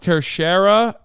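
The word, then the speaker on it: Teixeira: It's pronounced Tercera.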